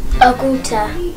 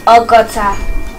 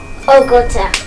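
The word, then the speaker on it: ọgọ́ta: And so, if we add add Meta and Ogu together, you get Oguta. Is that how you pronounce it? I think it's Ogota. Ogota, yeah.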